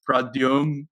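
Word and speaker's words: Pradyumn: But for some people, I'll be like, no, it's Pradyum. I know the N is there, but it's silent.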